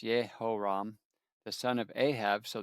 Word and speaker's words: Jehoram: Jehoram in Hebrew is pronounced Yehoram, the son of Ahab.